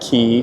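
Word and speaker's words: Quay: So, we just got to Circular Key and yes, that's pronounced key. Q U A Y.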